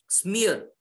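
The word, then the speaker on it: Sempers: बाय स्पिअर एंड म्यूरे स्मियर एस ई एम पी एस इ एम पी एस स्मियर इट इज एस is silent स्मियर एंड म्यूरे with put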